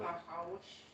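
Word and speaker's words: נחש: which is a little bit of a Hebrew wordplay because it sounds a little bit like the sound a snake makes. Snack. Nahash.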